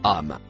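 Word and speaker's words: أم: Le mot en couleur verte se prononce âme.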